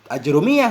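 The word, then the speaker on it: آجرومية: Bermula yang berlaku di atas lidah yang sering diucapkan orang yaitu fathah hamzahnya sukun jim, aj. Dengan dhammah ra, ajru. Ajrumiyah udah. Itu yang sering kita baca, ajrumiyah.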